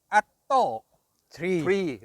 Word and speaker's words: ATTO 3: วิศวกร ของ Level automotive เขา ให้ อ่าน ว่า alto 3 นะ ครับอ่า ให้ ออก เสียง ว่า อ อ่าง ท ทหาร หรือ ต เต่า ก็ ได้ แต่ ว่า อ่าน ว่า alto เค้า บอก ว่า อย่าง นี้ นะ